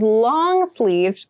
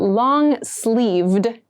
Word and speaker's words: long-sleeved: Something that is long-sleeved goes until the wrist. This is what we consider long. And make sure you clearly pronounce that D sound at the end. So not long sleeve, but long-sleeved shirt.